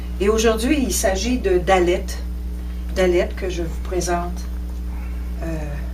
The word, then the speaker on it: Dalet: Et le Dalet aujourd'hui se prononce D. Le Dalet signifie, est le symbole d'une porte, ou encore au niveau plus spirituel, d'un appauvrissement ou de l'humilité.